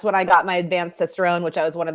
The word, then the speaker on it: Cicerone: So tell me, what is I was almost going to say like an Italian pronunciation, a pronunciation Cicerone, but it's Cicerone.